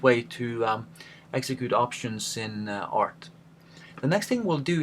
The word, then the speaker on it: RT: You will notice that I most of the time pronounce the name of the computer program art instead of RT, just like we try